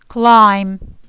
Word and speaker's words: climb: بالا رفتن از درخت یا از بالا رفتن کلا میشه climb دوستان climb بی رو تلفظ نمی کنیم. با هم ببینیم climb اوکی.